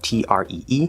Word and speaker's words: tree: So it's spelled T-R-E-E, Tree. but it's actually pronounced C-H-R-E-E.